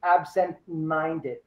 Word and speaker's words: absent-minded: so sentence number one it should be absent minded absent minded you stress the second the second word of the compound uh adjective you're very absent-minded you're